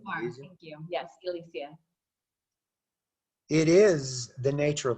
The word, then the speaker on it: Elysia: and your story right now, Elysia, am I pronouncing your name correctly? Thank you. Yes, Elysia.